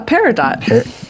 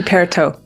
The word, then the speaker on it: peridot: It'd be peridot. But French don't don't pronounce an n syllable unless there's like an e after it, so you wouldn't pronounce the end t.